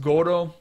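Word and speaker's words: 頃: Sonoro sometimes it can be pronounced goro. Um it's not quite as strong as jai. Jai seems more like an era or a huge time period. Uh koro is more like you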